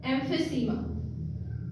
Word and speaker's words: emphysema: अगली डिजीज का नाम है एम्फीसीमा। एम, ये ई साइलेंट है, एम फी सीमा, पी और एच की आवाज फ की आवाज आएगी, फ, एम फी सीमा, एम्फीसीमा, एम फी सीमा, एम फी सीमा।